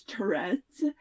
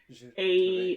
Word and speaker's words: Tourette: Giles Tourette's. Tourette. I don't know if he was turn of the century or Victorian, but somewhere in there. So it's probably And actually pronounced Tourette. Tourette, Tourette.